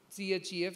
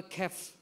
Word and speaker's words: chef: Some of the things are not pronounced. So you write C-H-E-F, you say chef. But the people will say chef or kef because they have also written character or they have learned something like a chair.